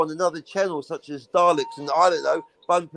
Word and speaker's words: Dalek: It's pronounced Dalek.